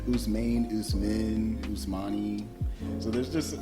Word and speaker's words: Ousmane: Ousmane, Ousmane, Ousmane.